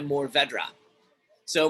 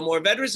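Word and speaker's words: Mourvèdre: it's a spanish variety another wine maker in my area calls it move over deer it's not a very easy variety to pronounce and i understand that so that's kind of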